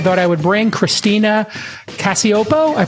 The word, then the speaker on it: Cacioppo: I thought I would bring Christina Cacioppo. I pronounced it correct, I'm hoping, Christina?